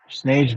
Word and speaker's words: Snage: Snage better show the fuck up. He's not gonna show up. Like a real punk. Like snake, but spelled with a G.